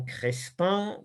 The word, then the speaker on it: Crespin: martyrs de jean crespin raison crespin comme ça se prononce au livre des martyrs